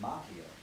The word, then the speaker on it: Macchio: played by Ralph from Machi which is actually an Italian way pronounced Macchio but I think if you